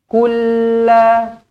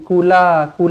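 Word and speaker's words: قُل لَا: Kulla, nah dia lambatlah. Kulla, jangan kula pula.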